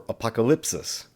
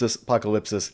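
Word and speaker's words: ἀποκάλυψις: the word apocalypse or apocalypsis if you want to pronounce it in the non-erasmian pronunciation apocalypse apocalypsis either way this is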